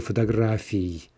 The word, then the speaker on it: фотографий: The nominative plural the ending is ee, two vowels, therefore two syllables. So if we're saying that very clearly, we say fotografii, fotografii, versus genitive plural is going to be e, right? И краткая, only one vowel, and therefore only one syllable in the ending.